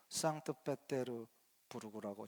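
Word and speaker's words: 상트페테르부르크: 가장 아름다운 도시라고 불리는 세인트 피터스버그 아시죠 상트르 부르라고 지금은 발음을 합니다 피터스가 이제 함락할 위기에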